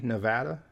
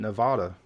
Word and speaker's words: Nevada: Most people pronounce it like I do with the hard A, Nevada. But you do get some folks pronounce it with the Spanish pronunciation, Nevada.